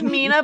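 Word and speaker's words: Meena: It's Mina, but it's spelled M E E N A.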